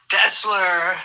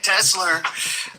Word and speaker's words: Tesla: guy is uh he he pronounced Tesla incorrectly yesterday he called him tesler okay Tesla uh and and Elon